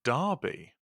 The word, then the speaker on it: Derby: UK to Charles I'm from uh which is pronounced Derby yeah which you you have learned on on